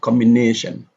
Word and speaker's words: combination: So if we come across a word which ends with shun, then the stress is on the syllable before the shun syllable.